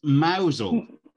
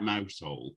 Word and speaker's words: Mousehole: know we'll say it again so close it's mousel is well to be fair if you don't live there everybody would call it mousehole because you wouldn't know so leave your beacon